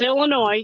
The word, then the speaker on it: Illinois: places a lot colder it's Illinois you said it right it's just because it's got the S on end so I'm like Illinois